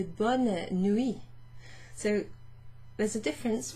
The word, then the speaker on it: bonne: Bonne nuit looks different and it sounds different. Bon, bonne. Bon, bonne. Pronounce the N here, if you like, and even the E a little bit.